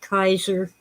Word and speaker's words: Caesar: And by the way, the Romans pronounced it Kaiser.